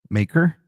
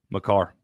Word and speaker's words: Makar: I'm thinking let's go with Kale Maker. Makar.